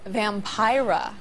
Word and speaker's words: Vampira: Now, so far we've met vampires who are totally out in the open about their lifestyle, but joining us now is Vampira. Rhymes with Tyra.